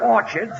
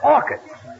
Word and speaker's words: orchids: some Orchards it's not Orchards it's orchids the CH is pronounced like K oh what movie did